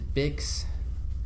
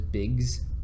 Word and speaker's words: Bix: He's risking his own life to save his friend Bix, Bix. I thought it was Biggs, for they say it like Biggs for a while.